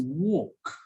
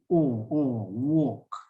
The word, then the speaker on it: walk: let's see okay so the first one is walk so that symbol there is the or sound or walk walk and the second symbol that looks like a number three is the er sound so work walk work walk work so as